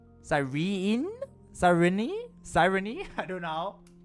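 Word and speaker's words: Cyrene: Wait, the second E isn't silent. Sirene.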